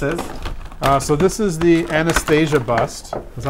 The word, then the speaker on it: Anastasia: So this is the Anastasia bust.